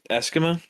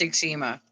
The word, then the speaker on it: eczema: I suffer from like uh Esimma so my is dry as It's It's pronounced eczema.